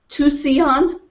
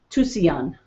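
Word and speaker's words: Tusayan: can't really and we we found out how to say it to see on t us aya n to see on i think is how you pronounce it it's the it's a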